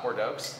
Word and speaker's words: Bordeaux: Little Bordeaux white wine aperitif. It's not Bordeaux. It's Bordeaux.